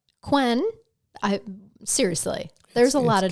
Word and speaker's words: Kuenn: James' last name is spelled K-U-E-N-N. Kuenn. Mm-hmm. Kun, whatever. I would probably go with Kuhn. Well, I've heard it Kunen, Kun, Kun, Quen.